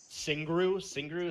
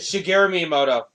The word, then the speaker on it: Shigeru Miyamoto: So yeah, they the creator Singru, is that how you say it? Shigeru Miyamoto.